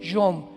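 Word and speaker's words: יום: Se pronuncia ait, aharit. Y tiempos o días son yom y o m de mamá.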